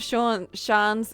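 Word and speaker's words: seans: The pronunciation of Shans is the same as Shans. Like chance, but with a sh at the start.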